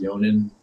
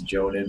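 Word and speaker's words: Jhonen: And it's like, you know, I was really into, I think his name is pronounced Yonin. I said it's spelled like it's Jonin, but I've heard people say Yonin Vasquez, the creator, of course, of Invader Zim.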